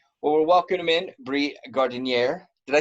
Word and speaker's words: Gardinier: Well, we're welcoming in Bree Gardinier. Did I say it right for the first time? Yes. I did. I've always called you Gardner for the longest time, Mhm.